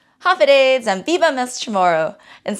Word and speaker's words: Håfa Adai: And then the more commonly known greeting of hello would be hafiday, hafiday.